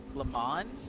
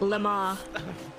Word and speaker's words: Le Mans: Le Mans? That was the most American pronunciation. Oh, Le Mans.